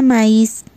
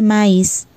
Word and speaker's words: maíz: Les da maíz. No se dice maíz, es maíz.